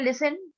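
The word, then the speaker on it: listen: Next है लिसन, लिसन, लिसन, इसमें क्या है, टी लेटर साइलेंट है।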